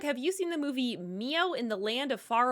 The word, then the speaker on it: Mio: Hey Doug, have you seen the movie Mio in the Land of Far Away?